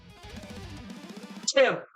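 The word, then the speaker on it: Thim: Tim, what is their name? Some call me, but it's spelled t h i m.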